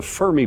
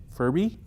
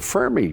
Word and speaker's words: Fermi: So, there's something out there and it's called the Fermy paradox and that's from Fer Fer Fermy. Furby Fermy Enrio Fermy Enrio Furby Fermy Fermy Fermy.